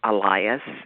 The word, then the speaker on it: Alias: that question and just let me correct you Elias is how you pronounce my last night said that's enough